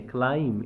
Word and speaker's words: climb: क्लाइम इसको क्लाइम मत पढ़ना। यहां पर बी क्या है? साइलेंट है।